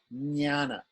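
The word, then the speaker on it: ज्ञान: na na na that is like Nana like knowledge like the word knowledge jnana right the next one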